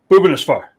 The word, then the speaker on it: Bhubaneswar: Now, I do want to say, okay, I've been working on this, and you taught me how to say it. So it's Bhubaneswar. That's right. Yeah, yes. You got it right.